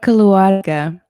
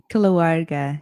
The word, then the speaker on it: Keluarga: It's called Keluarga, and it Kulawaga. means keluarga, yeah, with like a rolled R, I guess, if you can.